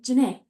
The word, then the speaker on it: Jana: It's spelled uniquely, but it's basically just like saying Renee with the J.